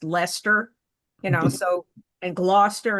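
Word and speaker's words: Leicester: forth, I mean like the way the city that's spelled L E I C Ser is pronounced Lester, you know, so and Gloucester and so on.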